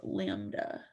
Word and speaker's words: lambda: mean of the event so that upside down y is pronounced lambda now we are able